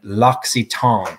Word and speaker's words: L'Occitane: whether you won and l'occitane so i wasn't that far off uh evidently is the preferred pronunciation okay so really quick